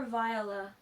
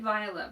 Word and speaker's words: Viola: See, I say it Viola, but people have different opinions on how her name is pronounced.